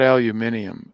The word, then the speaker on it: aluminium: yeah but even so not aluminium that's maybe how the brits pronounce it i know i i